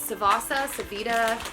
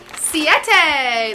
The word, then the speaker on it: Siete: Savita, here is it? Siete, the Siete grain-free tortilla chips.